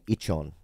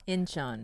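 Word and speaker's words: Incheon: wife and a child and they lived in ichon Korea inchon inchon yeah in is how you spell it in inchon and his um wife and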